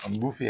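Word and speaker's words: buffet: बुके of flowers बुके जिस तरह बुफे है ना बफेगा तो इसमें भी टी साइलेंट है तो इसको हम बफे कहते हैं।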